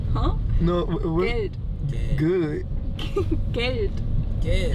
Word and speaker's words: Geld: Geld. Geld. How you spell it? Gate? No, not gate. Geld. G-E-L-D.